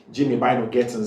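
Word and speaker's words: Jamie Bynoe-Gittens: Jamie by no Gettins. I've been pronouncing the name wrongly for a long time, and now somebody pointed me to it, and thank you very much, Jimmy by no Gettins.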